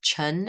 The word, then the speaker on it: Chin: this particular Chin surname which is pronounced chun in Mandarin Chinese.